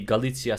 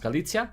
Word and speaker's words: Galicia: in what would be Galicia, Spain. I guess how it's pronounced, Galicia. I think it's Galicia. I don't think you say the C.